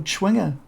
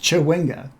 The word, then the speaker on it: chwinga: is just ch h ww nice and simple chwinger chow winga but it's pronounced chwinga so I was close but I put